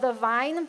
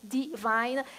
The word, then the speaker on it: The Vine: The church that I planted is called The Vine, and I'm trying to say it correctly because every time I say it, people think I'm saying divine. It's the Vine. The Vine Church.